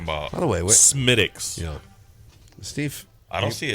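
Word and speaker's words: Smithwick's: Yeah, it's Smith Wicks.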